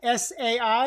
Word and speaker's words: Sai: S-A-I, like Mai Tai, Sai.